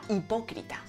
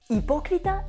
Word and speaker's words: hipócrita: Hipócrita se escribe actualmente con H, pero esta H en la norma sevillana no se aspiraba porque no viene de una F latina, sino que viene del griego.